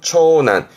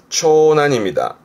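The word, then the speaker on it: 長男: 발음은 초난. 요거 어려워요. 초난입니다. 보통 남녀 그러면 발음 어떻게 하냐면, 그렇죠. 그때는 난가요. 난. 그래서 남녀는 단조입니다만은 큰딸 장녀는 초조. 하지만 장남은 초난 가니까 한 번 더 보셔야겠죠.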